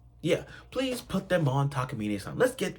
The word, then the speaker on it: Takamine: Please put them on what you say Takamina. Am I saying it right? Yeah. Please put them on Takamina.